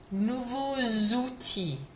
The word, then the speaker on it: nouveaux outils: Now what happens is that X next to the O makes a bit of a Z sound as a liaison. So it's going to sound like this. Il a deux nouveaux outils. Il a deux nouveaux outils. Okay, so that X to a vowel makes a Z liaison.